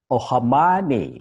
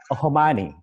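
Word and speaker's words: O'Mahony: Many people find this difficult, but all you have to say is to say, "Oh, my honey," something like that. So it's Exactly. Ohamani.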